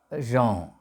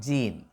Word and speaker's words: Jean: French philosopher Jean Paul SAR J A an pronounced Jean not Jean Jean Jean Paul s s a r t